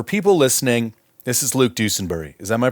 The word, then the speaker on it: Dusenbury: so for for people listening this is Luke dusenbury is that my pronouncing that correctly it's close enough yeah it's dusenberry but dusenberry all right very very close dusenberry now I've